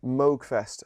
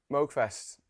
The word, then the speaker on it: Moogfest: go off to uh Moogfest I believe it's pronounced uh out in the states uh of course if you know anything about a tool you know who he is his name is caps I hope I pronounced that right yes you did you also pronounced Mo right yeah cool um um